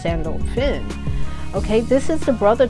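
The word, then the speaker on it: Sandalphon: way next we have Archangel sandal fun which is really Archangel sandal fin he said it's you know pronounced sandal Finn okay this is the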